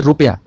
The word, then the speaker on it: रुपया: छोटे ऊ की मात्रा, तो देखिए जो छोटा ऊ होता है वो बड़े ऊ की तुलना में कम समय लेता है प्रोनाउंसिएशन में, इसलिए रुपया। आपने कहा रूप, देखिए यहां पर बड़े ऊ में ज्यादा समय लग रहा है, इससे भी आप स्पष्ट करते हैं।